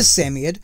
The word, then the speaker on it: Samoyed: The Samoyed, which I am assured is the correct pronunciation by Yeti's Place, although not the only